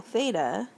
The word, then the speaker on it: theta: So if I consider a circle here, let's just say it has radius r, then this angle theta, how you say it is like that, theta.